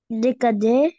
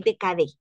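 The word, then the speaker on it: décade: colar con context cre decad demanda Dei okay decad decad Porque la e de decade no lleva tilde no lleva acento entonces no es decade sino que será de cad de cad Okay muy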